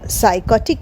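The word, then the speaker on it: psychotic: এইচ ওটি আই সি এখানেও কিন্তু পি সাইলেন্ট সাইকোটিক মানে জানো এর মানে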